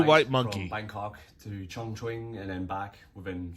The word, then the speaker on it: Chongqing: I mispronounced Chongqing. I think it's actually Chongqing.